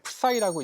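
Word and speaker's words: ψ: 이게 그리스 문자인데요. 이게 풋사이라고 읽어요. 풋사이. 푸사이.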